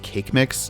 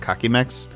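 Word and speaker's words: Kaqemeex: just looked it up apparently his name is pronounced cake mix not cocky mex i have always pronounced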